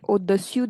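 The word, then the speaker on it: au-dessous: You can remark the difference in pronunciation. Here it is o dessous de Okay, with contact sur and su without contact o de su de o de su de.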